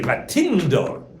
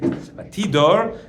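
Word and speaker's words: וַתִּדֹּר: A neder is the verb or the noun, but when the verb, somehow the nun falls out. Right? You should say Vatindor. She made a neder, but that's how you say it. Vatidor, and she made a vow.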